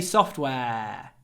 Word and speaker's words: software: careful with this word firstly it's not just soft yes so develop soft no soft means you need to say software if you're talking about soft program virgia software and try to make the S long you know it's not soft it's software develop software software we have an art between two unvoiced consonants software so we really swallow the vowel software software 178 a